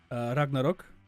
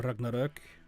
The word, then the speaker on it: Ragnarök: Well, to be fair, if I one of my favorite shows is actually a Norwegian show, Ragnarok, or Ragnarök, if you want to pronounce it more properly, I think.